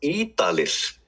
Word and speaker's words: Ýdalir: It's Ýdalir.